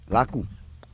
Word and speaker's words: Lakou: Lakou.